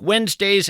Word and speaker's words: Wednesday: It's not like it sounds. You want to spell it we enz, but that of course would be a mistake.